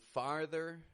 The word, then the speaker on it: farther: As I pointed out, when we got that R, we're opening our mouth up, getting a clear ah sound, lax A, followed by an R, far, and then ther, going flat on that ending, ther, farther.